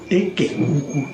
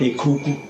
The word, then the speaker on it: Eke Uku: Eke Uku, not a Kuku.